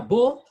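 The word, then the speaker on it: beaux: Beau, pronounced the same. Singular and plural pronounced the same. Beau, beau with X.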